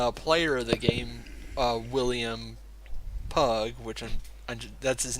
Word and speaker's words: Pugh: Hren and William pug that's how I'm gonna pronounce his name because it looks refusing also is better than William Pugh which is probably how you'd really fancy that's oh yeah pew pew like that like that youtuber